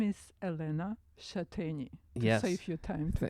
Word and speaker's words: Elena Shateni: My name is Elena Shateni. Yes. Save you time to pronounce my last name. Elena Shateni.